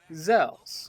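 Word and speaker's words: Xels: the main character, Beck, to absorb zells, or cells. It's spelled with an X, so it's kind of weird.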